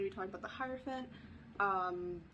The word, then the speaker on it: hierophant: be talking about the hierophant um that's how i pronounce it i don't know if people pronounce it different that's the only way i've ever heard it pronounced but regardless um if